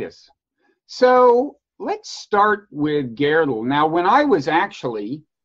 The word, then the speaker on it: Gödel: Gödel. Okay, Gödel. It's an O with an umlaut in German.